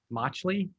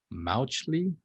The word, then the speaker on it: Mauchly: up we have john motchley that is that how you say it i think it's pronounced mauchly m-a-u-c-h-l-y while he's